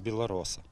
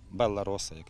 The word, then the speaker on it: Белароса: Зараз, як правило, всі там купують просто лише один сорт, всі його знають – білароса. Белароса, якщо так правильно вимовляти.